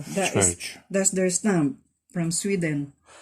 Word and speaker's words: Sverige: They pronounced it Sverige. Sverige, yeah, Sverige.